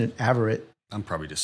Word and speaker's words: Averette: Master Sergeant Jeff Averette. I've been pronouncing it Averette.